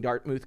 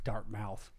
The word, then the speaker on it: Dartmouth: marine corps from westchester new york upon graduating dartmouth college cly survival way did i say it wrong dartmouth dartmouth dark mouth i didn't say no i didn't say dark